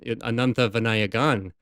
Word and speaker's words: Ananthavinayagan: with her, so I wasn't, obviously she even Ananthavinayagan. Right, I had to it's got to get that pronunciation right.